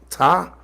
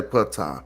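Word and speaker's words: Ptah: I say patah because it ain't Greek. It's the Greeks who leave off the P before their name. Let me ask y'all, is it patah or ta? Well, I say it as like the standard convention, which is patah. Yeah, I pronounce the P.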